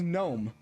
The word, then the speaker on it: gnome: It's it's like I'm I'm like, what purpose does the G have in that word? It doesn't make any sound. Like when someone says gnome.